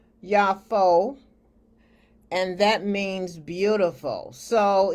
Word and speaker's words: Joppa: And he went down to, it looks like Joppa, but it's correctly pronounced Yafo, and that means beautiful.